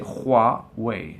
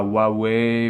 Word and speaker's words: Huawei: art ou à spiriro la prononciation c'est Hai c'est pas Huawei ou Huawei ou je sais pas quoi c'est roi h Huawei